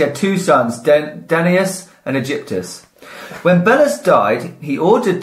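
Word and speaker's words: Aegyptus: I think it's Egyptus. Egypt. Ooh, nice. Egyptus. Danaides? It's spelled A-E-G-Y-P-T-U-S. It's basically Egypt, but...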